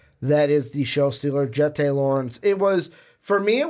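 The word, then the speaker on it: Jeté Laurence: I'm going to go with, it's pronounced Jette Lawrence.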